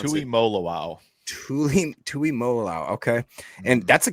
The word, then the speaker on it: Tuimoloau: I don't know how do you pronounce it. Tuimoloau.